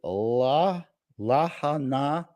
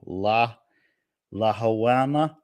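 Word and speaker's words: Lahaina: the west side of Maui La laana I believe is how they say it and had a disastrous disastrous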